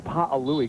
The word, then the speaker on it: Pa'alui: Yeah, he came up and kind of got on me today for mispronouncing his name a couple of weeks ago. He said, it's Pa'alui, Chris.